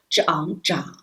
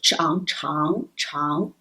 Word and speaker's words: 长: line for this character it also has two pronunciations one is zhang the other is chang okay that's read one